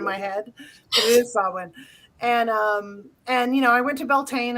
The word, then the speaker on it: Samhain: Yeah, it is Samhain, but I always say Samhain in my head. But it is Samhain.